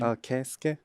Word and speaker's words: Keisuke: How do you pronounce his first name? My name No, Honda's first name. Keisuke. Kesuke.